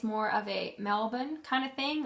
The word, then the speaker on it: Melbourne: They don't really pronunciate the R very much. And then Melbourne is, well, some people say Melbourne. I think from hearing them say it, it's more of a Melbourne kind of thing.